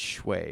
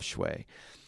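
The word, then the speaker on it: Schewe: And I want to do Learn Like a Pro by Barbara Oakley and Olav, and I think it's Shway is how you say his last name, Olav Shway.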